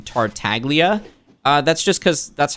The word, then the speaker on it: Tartaglia: flaky salt asks griffin why do you pronounce the g in tartaglia uh that's just because